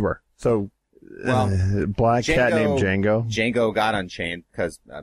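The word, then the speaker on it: Django: so black cat named Jango Jango got Unchained because I mean the D is silent was swiped by a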